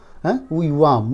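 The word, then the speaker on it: युवाम्: लेकिन अगर नहीं पढ़ने आता है तो बिंदु जो है ना युवाम म का उच्चारण होता है।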